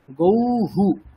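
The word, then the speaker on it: গৌঃ: তাহলে ধরুন গ ঔকার বিসর্গ আছে, তাহলে কেমন উচ্চারণটা হবে? গৌহু, গৌহু।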